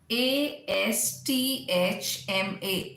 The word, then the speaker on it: asthma: ASTHMA, asthma. Very commonly we've learned that asthma is again incorrect. It's asthma, asthma.